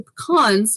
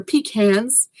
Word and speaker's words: pecan: So I always have to be careful because I'm very allergic to pecans or pecans. It depends. Excuse me. It depends where in the world you're from. I pronounce them pecans.